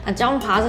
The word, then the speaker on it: Junpha: Jamah is how they pronounce it, I don't know what it means either.